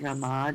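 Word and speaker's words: Ramā: Rama or lakshmi. So rama has a long a so feminine. Okay. We chant harama short a.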